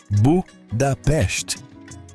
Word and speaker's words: Budapeste: E se quiser ganhar pontos com os locais, pronuncie o nome da cidade corretamente. Budapeste.